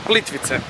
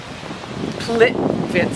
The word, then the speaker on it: Plitvice: Plitvice. Plitvice.